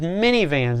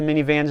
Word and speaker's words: Minnie: Okay, the next one we're going to look at is minivans. Now this is spelled M-I-N-N-I-E as in Minnie Mouse.